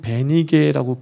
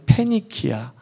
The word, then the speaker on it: 페니키아: 성경은 베니게라고 불리워지고 있지만 영어식 발음으로 하면 페니키아.